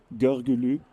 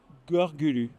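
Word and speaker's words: Görgülü: Gorgulu, Gorgulu, exact. comme ça s'écrit.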